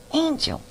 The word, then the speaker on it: Engel: And today's special guest will help us with these topics is Beverly Engel. She may be an angel, but it's spelled with an E.